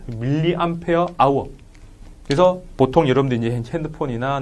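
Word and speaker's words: mAh: 뭐라고 읽어요? 이렇게 하면 안 되고 밀리암페어 아워.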